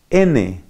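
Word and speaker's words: νοῦς: En griego mente se dice nous y se escribe N-O-U-S. Se pronuncia nous.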